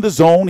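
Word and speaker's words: DAZN: or so your time it's going to be on the Zone here in the states that's the $999 stream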